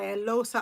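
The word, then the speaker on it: Eloghosa: And the book I'm currently reading the excerpts from is necessary fiction from and by Elosa Ounda because I think the gh is silent.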